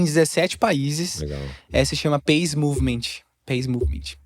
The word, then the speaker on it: Peace Movement: Se chama Peace Movement. Peace Movement. Se escreve paz, mas se lê Peace.